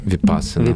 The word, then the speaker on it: Vipassana: Am I pronouncing it right? Vipassana.